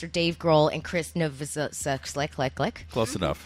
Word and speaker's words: Novoselic: directly behind us are Dave Grohl and Chris Novoselic. Close enough. How do you say his last Novoselic. name? Novoselic.